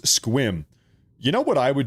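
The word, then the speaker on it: Sequim: It's pronounced squim.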